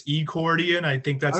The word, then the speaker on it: Ecordian: And Ecordian is spelled with an E. It's not accordion, it's Ecordian.